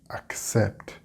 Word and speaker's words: accept: for Spanish speakers because it is a similar pronunciation to the sept in septiembre. But you have to put the P and T sound together. That's how you say accept in English.